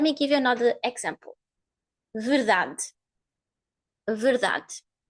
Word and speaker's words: verdade: The same happens here with that You don't hear it. You just hear the sound of the consonant. Verdade. And again, the highest syllable is the one in the middle. Da. Da. So you hear this clearly. Da. The vowel in the highest syllable is the one that you are going to hear clearly, not the others.